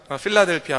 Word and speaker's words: 필라델피아: 다 할 수 있습니다 빌라델비아 는 원래 본 발음은 여러분 자라 3 필라델피아 합니다 이 도시는 원래 휠라